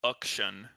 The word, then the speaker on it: Akshan: Which chat says is pronounced Akshan. Akshan. Really? Akshan. I am not saying that. I'm saying action.